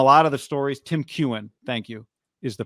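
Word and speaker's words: Keown: Tim Kewen, thank you, is the pronunciation.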